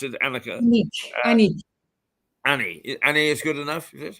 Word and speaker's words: Aniek: Annika, is that the way I pronounce it, Annika? Aniek. Annie is good enough, is it? Aniek. It's with a K at the end.